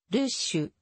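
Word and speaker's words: Rouches: を意味するルージュルージュはベージュのアクセントで発音された時ルーシュルーシュのように聞こえるまたバロン方言で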